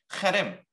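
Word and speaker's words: חרם: 헤렘, 히브리어로 이것을 헤렘이라고 읽습니다.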